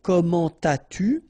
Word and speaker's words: comment as-tu: so avec un adverb, don't make the liaison. So you don't say comment as-tu, no, no, no, nothing here, comment as-tu, all right?